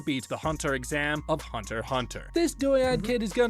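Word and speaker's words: Hunter × Hunter: the hunter exam from Hunter Hunter yeah I know I didn't say it with x's which apparently you don't pronounce who know well anyway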